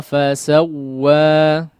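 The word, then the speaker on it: فَسَوَّىٰ: Alladhi khalaqa fasawwa.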